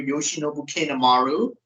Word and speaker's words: Yoshinobu Kanemaru: It's definitely going to be Tomohiro Ishii going over Yoshinobu Kanemaru. That's how you pronounce his name, Vaz.